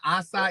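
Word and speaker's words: açaí: you go right now i just finished my assa evolve oh that's the way you pronounce it acai yeah you know that's the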